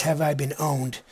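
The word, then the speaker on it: Have I Been Pwned: this is pronounced this word right here is have I been owned although it's spelled pwn ad its have I been have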